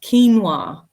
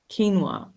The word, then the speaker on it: quinoa: in English phenomenon specific this one here pronounced quinoa can you believe it quinoa yeah in academic English